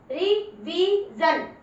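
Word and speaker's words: revision: जैसे मैं देखो बता रही हूँ, RE रिवीजन, SION मतलब जन हो गया। तो देखो ये कितनी शॉर्ट बन गई, रिवीजन, रिवीजन। CON कंक्लूजन, इसको जन बोलना है।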